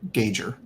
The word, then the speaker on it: Gauger: It rhymes with major, so gauger.